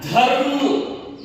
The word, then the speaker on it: धर्म: होने के बाद ही इसके इस व्यंजन का प्रोनाउंसिएशन हो रहा है, कर्म, देखिए कर्म। ठीक है, इसी तरह तीसरा देखिए, ध रु म, क्या हो गया, धर्म, धर्म, देखिए पहले ध रु म धर्म।